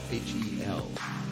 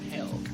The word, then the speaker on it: Hel: H-E-L. Not hell. Hel.